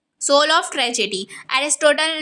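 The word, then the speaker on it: Aristotle: declare that plot is जो ए अरस्तु है हिंदी में अरस्तु बोलते हैं और इंग्लिश में प्रोनाउंस एशन एरिस्टोटल पढ़ते हैं ठीक है तो एरिस्टोटल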